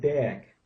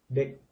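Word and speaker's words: เด็ก: Now I've always said deck for child. This looks like it's dick, dick, dick. More of an I sound than an E sound.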